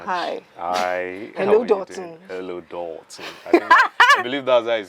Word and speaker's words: Dotun: His name is Dotun. So Dotun, hi. Hi. Hello, Dotun. Hello, Dotun. I believe that's how it's always pronounced.